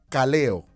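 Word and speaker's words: καλέω: mente proviene de un vocablo griego que se pronuncia cale o la palabra cale o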